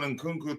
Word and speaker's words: Nkunku: It speaks to his low footballing IQ to depend on Nkunku to play well.